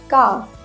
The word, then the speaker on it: calf: Would, should, could, calf, half. Remember, L has to be silent here.